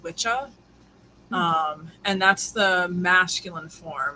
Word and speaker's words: Wicca: So the word Wicca actually comes from Old and Middle English, but it would have been pronounced Witcha.